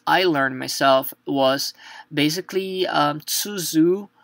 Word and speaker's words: つづ: My hint to you guys, as I learned myself, was basically tsuzu. So tsu, when you were pronouncing tsu, think that is basically the sound of chi and tsu together.